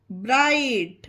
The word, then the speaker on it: bright: ब्राइट, BRIGHT ब्राइट। Rule था हमारा कि जब किसी वर्ड में आई के बाद GH आए तो आई का उच्चारण आई किया जाता है।